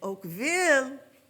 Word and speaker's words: Oakville: what town is this it's Oakville exactly oh Phil is I don't know what that is it's Punjabi or or it's Korean but it is in English and Oakville that would be French so it's Oakville in this country what